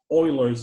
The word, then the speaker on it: Euler: It's called Euler's number. So the E stands for Euler, who was a mathematician. Okay, and it's spelled E-U-L-E-R, okay?